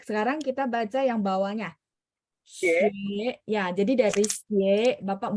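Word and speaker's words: 学: Nah, begitu mau baca yang ada ue gitu ya, ue itu mulutnya separuh dibulatin. Xue.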